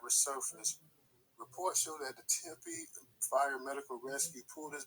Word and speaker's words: Tempe: I just wanted to point out that that same place, you say, is it pronounced Tempe? Yeah, Tempe, Arizona. Okay, in Tempe, Arizona, I sent it to you and DJ.